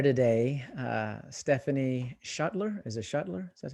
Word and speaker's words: Schuttler: Is it Schuttler? Is that how you say it? Yes, Schuttler.